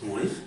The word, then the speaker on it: Múnich: ¿Lo pronunciaría? Múnich. ¿Múnich?